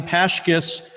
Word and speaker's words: Pashkis: interview assuring her that her last name Pashkis rhymes with Hotchkiss, she married Arnold and began teaching.